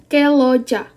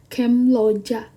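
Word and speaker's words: 근로자: Ini jadinya keloja. Keloja. Jadi lebih mudah kan daripada kemloja.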